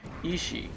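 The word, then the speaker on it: 遺志: Hunters are said to maintain consciousness by means of ishi, which is pronounced in the same way as the word for will, but uses the characters for bequest and will or intention.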